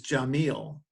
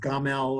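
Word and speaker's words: جميل: But when I was studying Arabic, I found that the Arabic word for beautiful is jamil, or as if it's pronounced different accents. It's sometimes pronounced gamel or gamil or jamil or jamil.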